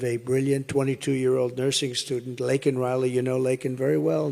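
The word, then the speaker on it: Laken Riley: months of prodding him Biden couldn't pronounce her name he said he said Lincoln Lincoln Riley and Lincoln Riley is the football coach the coach and uh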